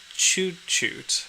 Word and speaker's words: tjutjo: Um, and then Oh, it it's pronounced chuchoot.